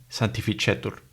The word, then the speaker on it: sanctificetur: La C, seguida de la E, I, AE y OE, se pronuncia como la che. Entonces tenemos dos ejemplos, cello y sanctificetur.